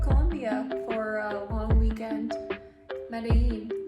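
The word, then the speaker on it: Medellín: Medellin, or Medellin, as the locals say.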